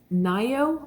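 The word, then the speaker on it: Ngaio: I'd never read her stuff um so it's Nao March Marsh um and I did find out that is how you pronounce it it's n g a i o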